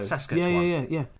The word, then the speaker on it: Saskatchewan: Saskatchewan. Yeah. It's like Sasquatch, isn't it?